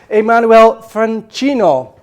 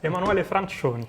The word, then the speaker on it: Emanuele Francioni: His name is Emanuele Francioni. Is that correct? Almost. Emanuele Francioni.